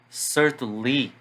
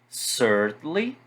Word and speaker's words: certainly: Quando vocês forem estudar essas palavras e repeti-las em voz alta, marquem as sílabas tônicas, certo? Então, probably, certainly, definitely. Muita gente tem esse hábito de entonar no final. Então, definitely, certainly, não. Probably, certainly, definitely, ok?